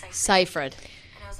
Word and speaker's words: Seyfried: Seifert. And I was like, no. it's Seifert. It's Seifert. I said it right this Yeah, whole yeah, no, time. you're right. I'm feeling good. Seifert.